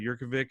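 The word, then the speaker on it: Jurkovec: I'm expecting, based on what I'm seeing on the depth chart and some research I did, quarterback Phil Yurkovich, I believe is how you pronounce that, Yurkovich, a Notre Dame transfer, is going to start.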